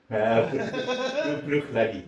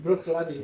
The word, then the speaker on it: Bruichladdich: How do you pronounce that? Bruichladdich. Bruichladdich.